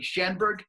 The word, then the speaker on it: Schaumburg: And the answer is yes, you work in, see if I'm saying it correctly, Schaumburg, Illinois? Yeah, the correct spelling there is Schaumburg, Illinois, and you are right.